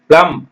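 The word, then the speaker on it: plum: பிடி டெத் கடன் பிளஸ் பி எல் யூ எம் பிளம் ஓம் ஓம்னா கருப்பை அம்மா வயித்துல இருந்து பிறந்தீங்களா கருப்பை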